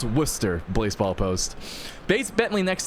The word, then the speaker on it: Worcester: It's pronounced Worcester, Blaseball post.